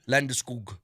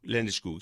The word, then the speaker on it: Landeskog: It is Gabriel Landeskog. Landeskog.